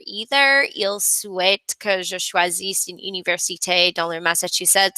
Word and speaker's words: choisisse: liked that you did a double take with choisisse, because yes, the spelling difference, normally it's in